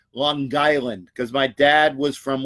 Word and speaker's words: Long Island: Let me say it correctly. Long Island, because my dad was from Long Island as well.